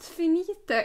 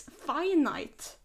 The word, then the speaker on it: Finite: to YouTube once and they pronounced it as the finite forest and I was like aha it's not finita it's finite okay I do think